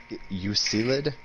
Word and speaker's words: Euclid: How the fuck do you pronounce Euclid?